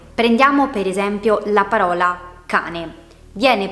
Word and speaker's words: cane: Abbiamo già stabilito che è composta da due sillabe, ca, ne. Sappiamo anche che pronunciamo con maggior intensità la prima sillaba, ca, ne. L'accento infatti cade sulla A, non la pronunciamo cane, ma cane.